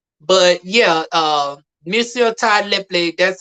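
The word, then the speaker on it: Tyler Lepley: But yeah, Monsieur Ty Lepley, that's how you phonetically pronounce his name. All this time I've been calling him Tyler Play.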